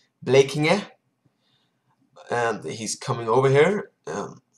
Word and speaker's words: Blekinge: The second thing is my best friend from I don't know how to pronounce it in English, but in Swedish it's blekinge, and he's coming over here Sunday.